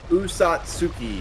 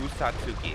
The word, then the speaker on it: Usatsuki: Usatsuki is what I would say. Usatsuki, thank you very much.